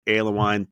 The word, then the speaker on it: Alewine: pleased to be joined by my friend Mark aloine thank you so much for being part of